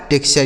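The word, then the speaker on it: texture: टेक्सचर क्या लिखा है टेक्सचर यानी बीच में यहां स होना चाहिए ऐसे पढ़ा जाएगा इसे पढ़ा जाएगा टेक्सचर समझ गए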